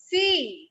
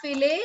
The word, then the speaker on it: fille: Fee. Fil. Fee. Ele. It's not fillet, it's fee. F-I-L-L-E. Double L is silent.